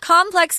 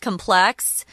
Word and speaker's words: complex: complex universes and characters complex can also be pronounced complex so both are correct so very very complicated